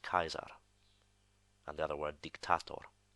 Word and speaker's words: Caesar: the answer okay so a lot of people would have said Caesar but his name in classical pronunciation would actually be pronounced Kaiser and the other word